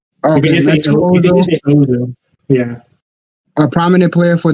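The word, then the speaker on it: Mesut Özil: Mesut Ozil. Okay, Mesut Ozil.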